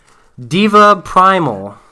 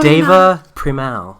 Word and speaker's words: Deva Premal: wow you know how to say her name Diva Primal no I know what it I see the name of my head I don't know how to pronounce it really you know Deva premal it is David from now that's true and